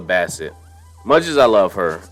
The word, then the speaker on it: Bassett: Like, as much as I love Angela Bassett, I'm saying her name wrong. I'm saying Basket. It's Angela Bassett.